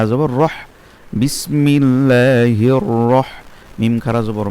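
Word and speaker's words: الرَّحِيم: আবার যদি সেই জন্য মধ্যে আরজি হলে 3 আলিফ কি হবে, রহিম, মিমটা শেষে মিমের উপর জজম হয়ে যাবে, রহিম, আর এর কারণে সেটা 3 আলিফ হবে।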